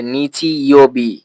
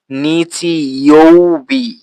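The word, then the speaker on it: 日曜日: খেয়াল করেছেন আমি এখানে বলেছিলাম গেছসু ইয়বি এরপরে নিচি ইওবি কা ইয়বি কিন্তু আপনারা যদি একটু ভালো করে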